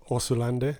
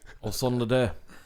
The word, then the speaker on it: Osunlade: Osunlade. Yeah, there you go. Yeah. How did you say it? Well, I think you pronounced it with a bit of a H in there. Osunlade. Osunlade.